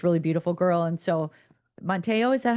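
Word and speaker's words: Manti Te'o: And so, Monteo, is that how you say his name?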